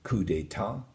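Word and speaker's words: coup d'état: You have a coup d'etat, which is silent P, silent T.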